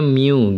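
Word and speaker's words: μ: Ini untuk mu, cara bacanya mu gitu ya, mu.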